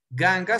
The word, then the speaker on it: ganga: Tenemos el ejemplo de ganga. Ganga solo tiene dos sílabas, gan y ga. Ga es la última. Gan es la penúltima y también en este caso es la primera porque solo tiene dos sílabas. Entonces usted va a acentuar en la penúltima, no al final.